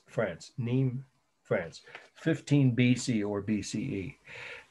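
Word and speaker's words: Nîmes: city in southern France neem n i mes you don't pronounce the s in French n m s France neem France 15 BC or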